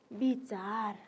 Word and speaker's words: विचार: यसै गरी हामीले अर्को हेर्नुहोस् त, फेरि विचार हो, विचार। लेख्दाखेरि हामीले के लेख्ने? वो लेख्ने, तर हामीले बोल्दाखेरि कसरी बोल्ने? ब भनेर बोल्ने है त।